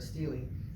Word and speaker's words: stele: stele, or a stela, depending on how you pronounce it, right? I always heard stele, S-T-E-L-E.